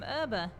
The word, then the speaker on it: herb: Now that I think about it, in America we pronounce it herb. We don't say the H. We don't say herb. We say herb.